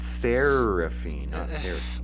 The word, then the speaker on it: Seraphine: is spelling it with two r's does not trick anybody just so we're clear well it it makes the pronunciation different it's seraphine like serrated fiend yeah serrated fine oh